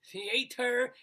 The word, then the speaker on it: theater: an extraordinary career in theater as i do it with a three syllables theater and dance for